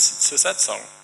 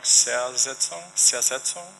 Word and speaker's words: Zersetzung: But the thing I have experienced in the last several years is Sosetsong. Right? Are you all familiar with this concept at all? Am I saying it wrong? Zersetzung?